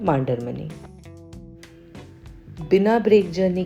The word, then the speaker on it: Mandarmani: किसी भी जगह का नाम प्रॉपर नाउन होता है। तो उसे आप कुछ तो भी तरीके से नहीं प्रोनाउंस कर सकते। अब मांडरमनी में बहुत बड़ा कंफ्यूजन है क्योंकि सबसे पहले इसे मुंदार मनी कहा जाता था।